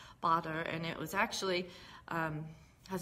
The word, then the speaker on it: Baader-Meinhof: of something called the baader-meinhof syndrome and that is actually how you pronounce it I've heard of people say baader-meinhof but it's bother and it was actually